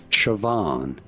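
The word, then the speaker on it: Siobhan: go about pronouncing it shoban you do want to stress on the second syllable the van syllable Shan here are more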